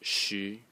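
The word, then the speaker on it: 十: And it's pronounced shi in the second tone.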